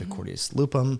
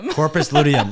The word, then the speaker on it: corpus luteum: happens when women ovulate in the association with accordius lupum did I pronounce it Corpus corpus luteum oh man it's been a long day already